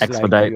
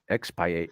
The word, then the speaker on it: expiate: So it's Expedite. like no, it doesn't have a D. expiate, Oh.